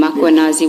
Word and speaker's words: Makanazi: Do you see the title of the document draft for MMC iPad Makanazi just as you pronounce his name Makuanazi with the A.